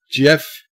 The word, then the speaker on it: GIF: they were creating it they purposely were calling it like the peanut butter jiff with ji F but